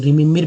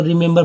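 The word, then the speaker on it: remember: अगर वैसे पढ़ते तो रिमेम्बर पढ़ जाते हैं, गलत हो जाता है, इसको रिमेंबर पढ़ते हैं।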